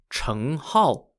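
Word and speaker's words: Cheng Hao: scholars an 11th century song dynasty philosopher called chung hull spelled c-h-e-n-g h-a-o wrote a poem about this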